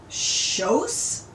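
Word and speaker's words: José: run by a man whose name, as Ove understood it, was Schosse? Schosse? Schosse? It was spelled Jose, Jose. But it seemed people weren't too particular about pronunciation in Spain.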